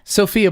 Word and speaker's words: Sofia: have this conversation earlier Sofia it's SOF I a it's the capital Bulgaria but in Bulgaria they call it Sofia Sofia so yeah so okay